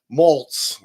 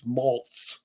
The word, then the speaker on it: Maltz: Psychocybernetics by Maxwell Maltz. I always pronounce that wrong. I always want to say it's Malt, but it's Maltz with a Z on the end.